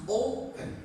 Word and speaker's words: open: This one we pronounce open. Okay? O is stronger. Okay? Open. So the first syllable is stronger than the second syllable.